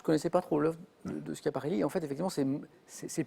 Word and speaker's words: Schiaparelli: Schiaparelli.